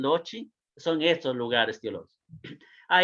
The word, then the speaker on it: loci: O quizá en algún manual van a escuchar los loci, por eso se pronuncia loci en latín, loci, son estos lugares teológicos.